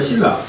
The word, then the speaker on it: 신라: 가장 대표적인게 신라입니다. 신라. 그렇죠? 그래서 리을 앞에 니은 비음이 있는데 발음상 뭐로 바뀌어 버려? 리을로 바뀌죠.